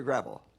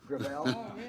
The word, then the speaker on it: Gravel: thank you uh Senator gravel with all due respect let me correct I pronounce it within my family grel grael it's a French name thank you uh I